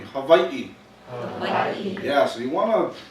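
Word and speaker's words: Hawaiʻi: Hawaii that's Hawaii right the pronunciation of this place is Hawaii so everybody repeat after me Havi yeah so you want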